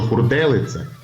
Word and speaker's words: хурделиця: але Зверніть увагу що хурделиця є синоніми слова хуртовина і пишете з і вимовляється з літерою D варіант фортелиця є помилково народне прислів'я кажуть